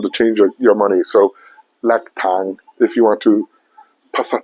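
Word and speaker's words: แลกตังค์: ั ง ค ์ Lak tang. Yes. Lack. L-A-K, lack. Yes. Lack, I say right? Yeah. Lack, okay? L-A-K, lack. Tang, T-A-N-G, tang. Yes. All right, so do I say it right? Lack tang. Yeah. Okay, so lack tang, that's how we say exchange money in speaking Thai language.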